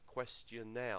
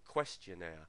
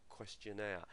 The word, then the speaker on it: questionnaire: questionnaire questionnaire we tend to put the stress on the on the questionnaire on the third syllable there rather than questionnaire um it doesn't sound